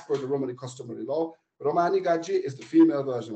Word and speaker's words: Romani: wife and I uh the word Romani is very often used and pronounced with English accent but actually you pronounce it as Romani as he's the only person in the UK who I heard pronounced this word properly Romani right um and it's